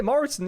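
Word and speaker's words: Mortensen: I was going to say Moritzen, but I don't know if that's how you pronounce it properly. I think I'm on the right track. That's pretty good, actually. I would say Moritzen, yeah.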